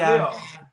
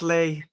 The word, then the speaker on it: Leigh: Loads of people call me Leah for some reason. But because you don't spell it L-E-E. You spell Leigh L-E-E. You spell it L-E-I-G-H. That's Leah, right? No, it's still Leigh.